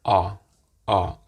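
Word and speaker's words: а: the russian alphabet is the letter ah ah and the great thing about this letter is that it looks and sounds exactly like the english ah so for most people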